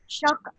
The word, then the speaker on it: Schocke: And it's actually quite easy to pronounce. It just looks tricky, Okay. Perhaps to those not used to German surnames. But it's Oliver Schocke. Schocke. Very simple. It's just think, oh, I'm shocked. It's just Schocke.